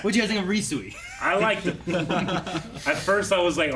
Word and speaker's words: Ryusui: Ryusui. Ryusui. Yeah. Okay. Sui. Ryusui. Sui. Like Chuck. Sui. Not like calling the pigs home.